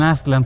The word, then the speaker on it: Aztlán: Lo mismo pasa con Aztlán, que sería la pronunciación más cercana, con Aztlán para los mexicas.